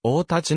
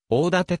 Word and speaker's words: 大舘: は関係がないそのため生の読み方も王たちないし大立と読むのが正しい戦後は大館と読ませる電子村のいるが新田大甲士の故実的には誤りである特に鎌倉時代から